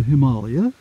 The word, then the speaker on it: Himalaya: So I'm escaped into the Himalayas, or Himalaya, to pronounce it properly.